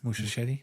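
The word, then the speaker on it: Muschietti: Cuz that's that's I think that's how you pronounce his name. Mushetti.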